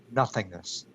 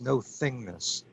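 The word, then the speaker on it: no-thingness: ket there is iron nothingness that doesn't mean that Keter doesn't exist it means that it's beyond our normal categories of being it's no thing better pronounce no thingness not nothingness but no thingness so it's pure divine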